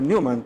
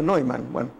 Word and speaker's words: von Neumann: fue john von neumann aunque algunos dice que se produce a newman pero escuchará la conferencia de la hija que decía que se pronunciaba no hay mano él es más conocido